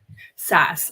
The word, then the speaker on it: SaaS: that Grace say software as a service yeah SAS I knew that I knew that I just